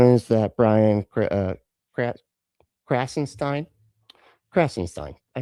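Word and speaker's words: Krassenstein: So, this one is that Brian uh Crassenstein Crassenstein.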